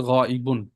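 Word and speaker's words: غائبٌ: বলছি হাদির হাদির আচ্ছা গাইব শব্দটা লিখে দিই পাশে দেখেন আচ্ছা নিচে ছয়টা গাইব গাইবুন সহজে আমরা গাইব গাইব বলি মূল উচ্চারণ হচ্ছে গাইবুন সবসময় শুরুতে হাজের সিগাই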